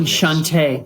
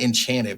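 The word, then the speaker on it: Enchanté: Enchante. Enchante. There I was we trying go. to remember how to say it. I was like, it's not Enchanted, but Enchante.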